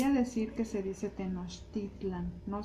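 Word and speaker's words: Tenochtitlan: decir que se dice tenostitlan no se dice tenostitlan las palabras en aguat amigos son la mayoría salvo pequeñas excepciones son palabras graves nos no va el no va el acento hasta el final Okay Por eso es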